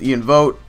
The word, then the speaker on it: Ian Vote: So it's pronounced Ian Vote. Vote as in like vote for, I don't know, Mitt Romney or Barack Obama, etc.